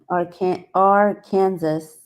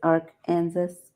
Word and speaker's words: Arkansas: R Kansas. Oh, so instead of emphasis on the K, it's R. Kansas. An ar Kansas.